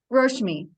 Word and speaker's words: Roshmi: Is it pronounced Roshmi? Roshmi. Roshmi, thank you so much for sharing that.